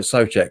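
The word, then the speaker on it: Souček: earful since they Thomas so check was it so check or suture so check is so check apparently how you pronounce it from Slavia Prague again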